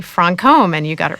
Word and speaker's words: Franchomme: A lot of people say Franom, including most chists, but it's actually Francome, and you got it right.